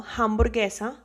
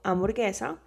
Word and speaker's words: hamburguesa: No, hamburguesa. Remember the H is silent. So, hamburguesa.